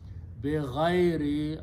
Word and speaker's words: بِغَيْرِ: بِغَيْرِ عِلْمٍ. Okay? This word بِغَيْر, it actually we pronounce it بَغَيْر. That means without. But Arabic word is بِغَيْر.